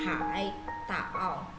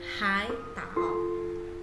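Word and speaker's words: 海岛: Ini cara bacanya bukan hai tao, tidak benar ya putwe, tetapi hai tao ya. Kata hai nya berubah menjadi nada 2 yaitu hai tao ya.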